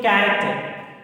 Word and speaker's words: character: Here we observe cheap, character. Every word starts with ch. But here cheap pronunciation is cha. Here also cheap pronunciation cha. But here ch pronunciation like ka. It is not cha.